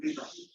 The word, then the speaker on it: data: about the pronunciation of data. Okay. Data. Like date. What's the date? The date. Date. Yeah. It's the same. What's the It's a vowel. It's a vowel. That's why it's data.